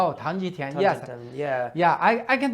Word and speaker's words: Tang Jitian: There were a few that you mentioned by name, the first of which included Tang Jitian, and you can correct my pronunciation. Tang Jitian, yes.